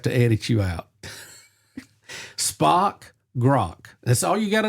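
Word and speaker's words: Grok: It rhymes with spock. Oh grock.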